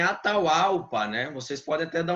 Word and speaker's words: Atahualpa: O meu é derivação, é Atahualpa, né, sem PH.